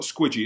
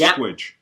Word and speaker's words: Squidge: It's not Squidgy, it's Squidge. No, it's Rugby, not rugby.